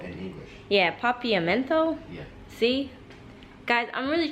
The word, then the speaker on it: Papiamento: it's dutch pop Heat papillomento in English yeah papiamento yeah see guys I'm really trying with my pronunciation so I did ask the driver and he said papiamento something like that um so they speak